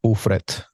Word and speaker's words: Ufret: Puerto Rico the my my last name is Dutch and we just pronounce it in Spanish ettr there you go so